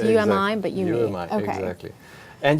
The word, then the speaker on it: Umi: just a coincidence so you me right that's how it's pronounced Umi but you know exactly